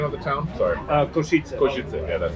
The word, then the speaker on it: Košice: Is this Kozice or what was the name of the town? Sorry. Košice.